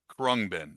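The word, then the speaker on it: Khruangbin: K HR U A N G B I N Krungbin.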